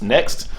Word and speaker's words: NECST: So he goes into why you need to get into this acronym that he has called NECST, pronounced next, which is basically acronym